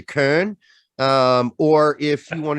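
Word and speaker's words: Köln: and if you i want to pronounce it like a german i'd say augsburg like when i say cologne i say kern um or if you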